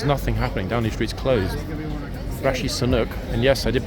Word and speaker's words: Rishi Sunak: Rishi Sunak, and yes, I did pronounce it correctly, is not even in London.